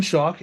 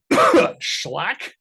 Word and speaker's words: Schalk: to spell my name it is chalk with an s in front of it that's also how you pronounce it I get a I get a lot of different pronunciations from my name I've gotten schlack SCH shulock I've gotten shulock someone threw in a second syllable one time it's crazy